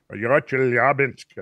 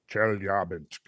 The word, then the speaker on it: Chelyabinsk: Chelyabinsk, I think, is the way I heard it pronounced. Chelyabinsk.